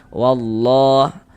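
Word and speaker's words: والله: Nah, jadi jadi dari wa langsung masuk ke huruf lam yang ada tanda bacanya ini. Nah, jadi kalau kita baca Al-Qur'an itu bertemu dengan dengan huruf lam. Huruf lamnya itu enggak ada tanda bacanya. Nah, itu lamnya lam syamsiyah tuh. Ah, ini huruf huruf lamnya enggak ada tanda bacanya kan ada lam syamsiyah. Alif lam syamsiyah. Wallah. Kemudian lafuz Allah dibaca panjang.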